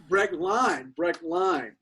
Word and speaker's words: Brechtlein: special guest today, Brechtlein. Did I pronounce that? Did I get the last name right? Is it Brechtlein? It's Line. Brechtlein. Yeah, in German, it's EI. EI is I, and IE is E.